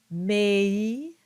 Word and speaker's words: mei: The basic rule of thumb is that you keep the original sound of each vowel. So for instance, you get meam, mei, mortuos, deum, and tua.